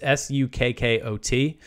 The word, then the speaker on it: Sukkot: I always pronounce it wrong. It's Sukkot.